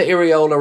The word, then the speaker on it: Iraola: I like the Iriola rhymes with Guardiola though.